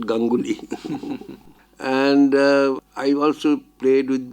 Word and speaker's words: Ganguli: When as a child, I used to play Danguli, which rhymes with my title Ganguli.